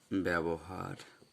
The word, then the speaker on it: ব্যবহার: আরেকটা উদাহরণ দেই আমরা, যেমন ব্যবহার, লেখার সময় আকার নেই, উচ্চারণের সময় আছে।